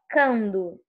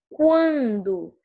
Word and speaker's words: quando: Você não fala quando, você fala quando.